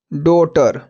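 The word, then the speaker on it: daughter: क्या हो गया coat डॉटर डी ए यू जी एच टी आर डॉटर देख सकते यहां पर हमारे जीच हमारे इसमें साइलेंट है और इसमें भी साइलेंट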